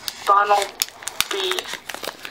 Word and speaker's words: Bunnelby: It's pronounced Bunnelby.